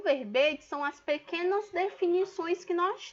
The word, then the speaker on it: verbete: Vamos atentar primeiro à pronúncia, é verbetes, tá certo? Não é verbetes, o E aberto não, é verbetes.